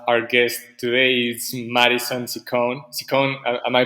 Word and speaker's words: Ciccone: happy to have our guest today is madison ciccone am i pronouncing your name great chicony but everybody says it differently so it's just